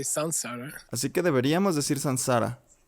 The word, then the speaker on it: samsara: las reglas del sánscrito, before S, an M changes to an N. antes de una S, una M cambia por una N. So we should say Sansara.